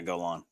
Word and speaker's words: Golan: Shout out to Golan. I think is how his name is actually pronounced. Yeah, Golan.